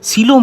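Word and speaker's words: coelom: তাহলে এই উন্নত প্রাণী দেহে পাওয়া যাওয়া সেই গভর যার মধ্যে দেহে সমস্ত ইম্পর্টেন্ট অঙ্গগুলো থাকে তাকে বলা হয় সিলম। ইংলিশে বানানটা লিখলে বানানটা হবে সি ওই এল ও এম।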